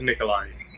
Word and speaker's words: Nikoli: Did I pronounce that correctly? It's Nikolai.